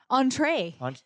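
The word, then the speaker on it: entrée: I don't know, entree, Entree. entree. A latte with an entree. How do you say entree? Entree. Entree. But you like entree. enunciate the A.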